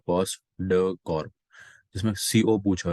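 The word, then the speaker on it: POSDCORB: पॉस D silent होता है, post dough Corp.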